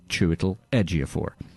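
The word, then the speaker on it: Chiwetel Ejiofor: a man whose name will ring throughout time pronounced 300 different ways and almost never correctly except by me chewle edor too little what uh during the mid to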